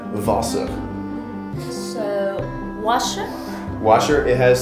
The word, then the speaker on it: Wasser: Okay, next in German, I think they pronounce the W's as like V. So next is going to be Wasser.